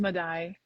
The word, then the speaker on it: Maday: It's pronounced Maday. Madai. Yes. Okay, perfect. Well, welcome, Madai.